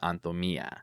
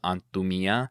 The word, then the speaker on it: Antumía: The accent is on the A here, and the accent is on the I on the version that we used.